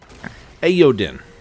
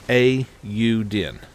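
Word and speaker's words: Eiyuden: i actually figured out finally how to say ayodhya chronicles 100 heroes let me try that again a you din hey uden so that is the official pronunciation of it um i'm harley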